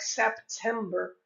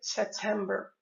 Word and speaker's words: September: So naturally, some people would pronounce like September. However, in this case, this P is mute. We simply say September. We omit the pronunciation of the letter P before the T. Once again, we don't say September, we say September. Let's repeat the phrase.